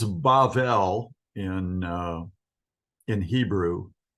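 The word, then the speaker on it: בָּבֶל: Babel or Babel it's bavel in in Hebrew the middle B is pronounced as a v it's like a soft sounding B sound so it's bavel and I want you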